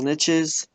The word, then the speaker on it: niche: the ground in little niches, and then they magically appeared. It's pronounced niche. Niche. Nosh niche.